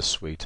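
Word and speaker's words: suite: Brides needs yeah so it's not a suit it's a sweet isn't it so oh yeah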